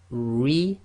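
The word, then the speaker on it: رجال: So if the ra carries a kasra, it's going to be light, tarqiq. And the easy way to remember this is when you say this ra, make a big smile. So you're going to go ri. So here we have rijalun.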